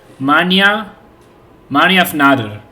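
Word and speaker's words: mannjafnaðr: How do we pronounce that? Manjafnadr.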